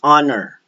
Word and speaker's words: honor: Now, when you have the words that begin with the letter H, but you don't pronounce the letter H and it is preceded right away by a vowel, then you must use the article N. So, an air, an hour, an honor, an honest opinion.